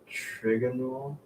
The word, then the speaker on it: trigonal: It's pronounced trigonal. Trigonal, Trigonal. bipyramidal. You know what? Trigonal. Trigonal. It's like a triangle.